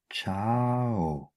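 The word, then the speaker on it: ciao: Shin চে রত্ত চেত চিন্ত্র চেন্ত্র চাও চাও কামি চা কামিচা লু চে লুচে ফা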